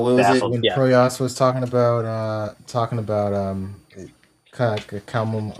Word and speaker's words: Proyas: And as we roll into chapter 11, Proyas, the name that how you pronounce Yeah, the Nurse prince's name? Proyas.